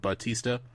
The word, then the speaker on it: Batista: me a GIS ta drop the you and like the the the heavy pronunciation and just made it straight up Batista gotcha like he's he